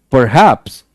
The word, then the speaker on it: perhaps: Perhaps. It's not like perhaps. Perhaps. It's perhaps. Perhaps. पर पे कम जोर है, haps पे ज्यादा है। ठीक है?